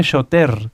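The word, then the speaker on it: שוטר: Y shoter se escribe shoter con R, pero recuerden que la R en el hebreo se pronuncia como una G, shoter.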